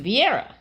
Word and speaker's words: Vieira: It's pronounced Vieira.